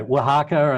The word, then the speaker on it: Oaxaca: there's this place here called uh called um oaxaca oaxaca yes i actually googled how to pronounce it i've been so embarrassed but i'm right down the hall well anyway anyway wahaka and and uh and these farmers that are